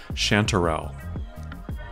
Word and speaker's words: chanterelle: or the funnel chantrelle we pronounce it chantrelle but is probably more accurate to say chanterelle wait to get as